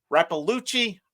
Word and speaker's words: Raluchi: the name right so it it is pronounced raluchi I Odell okay she's a